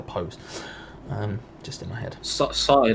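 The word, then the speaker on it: Saïss: Sai like the Gangnam Style. There you go. Yes, like that. That's like yes. Pronouncing it phonetically, like the Gangnam Style. Like Gangnam Style, I would say more Sai like Hangover featuring Snoop Dogg, which is of course Sai's best song.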